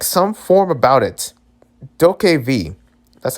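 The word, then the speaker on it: DokeV: Doke V. That's how you say it, Doke V.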